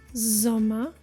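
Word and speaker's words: Sommer: spot what they signal double M as in Zama zoma meaning summer double n as in man man meaning man Double T as in bed bed meaning bed did you find out what happened right if you find double consonants it signals that the preceding vowel is short zoma man bet you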